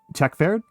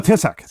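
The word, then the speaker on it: Taoiseach: Tekferd? Is that even close? No, Tissac. Tissac.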